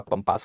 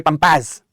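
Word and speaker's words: Pampas: कुछ लोग प्रोनाउंसिएशन इसको कहते हैं पंपा, गलत प्रोनाउंसिएशन है, हटाओ ऐसे प्रोनाउंसिएशन को। आप हमेशा बोलेंगे पंपास, पंपास ग्रासलैंड है बेटा, पंपास ग्रासलैंड।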